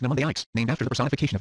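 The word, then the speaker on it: mnemonics: Pneumonics pronounced nomics named after the personification of memory in Greek mythology.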